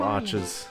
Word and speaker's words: Arch: Because there's arc like arc... Well, it's arch Linux. Maybe it is arch. What is the arch? I never know. I'm gonna be that guy. I've been saying it wrong my whole life.